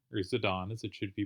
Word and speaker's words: Zidane: all right we're watching losers finals of Essie zidane or zidane as it should be pronounced I didn't realize I just played my